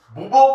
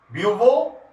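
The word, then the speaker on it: Bouveault: This is called बुबो ब्लॉन्क, this is BAUVO, ब्यूवो ब्लॉन्क reduction. So remember this BAU, इसका spelling मैंने बोला है आपको, एंड वहां पर नोट किया मैंने इसको, this is called ब्यूवो ब्लॉन्क reduction, right?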